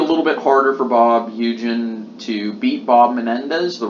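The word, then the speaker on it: Hugin: So it shouldn't be expected, and not only that, but Bob Eugen, I think that's how you say his name. I don't want to say Hugen or Huggin, or I think it's pronounced Eugen.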